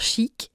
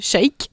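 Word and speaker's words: Sheik: YouTube qui s'appelle Stellar Chic et ça s'écrit comme les trucs Zelda SH. Ah ok, j'étais là genre chic mais c'est l' shake je sais pas trop comment.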